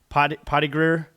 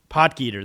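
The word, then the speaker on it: Potgieter: Yeah, so shout out to Aldrich Pottigreer. Potgeeter. That's how it's pronounced.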